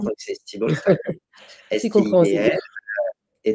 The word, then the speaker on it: Stibal: Alors la fondatrice, donc c'est une femme, qui s'appelle, Diana Stibal, ou Stibal, je sais pas comment on prononce, Mmh. donc c'est Stibal, Stibal, C'est compréhensible.